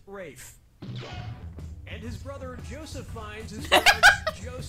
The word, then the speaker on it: Ralph: finds first name is spelled like Ralph but pronounced race and his brother Joseph Fiennes they're all the